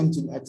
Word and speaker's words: Nginx: Terus ada lagi yang terkenal kedua itu yang Nginx ya. Bacanya bukan Nginx ya, Nginx.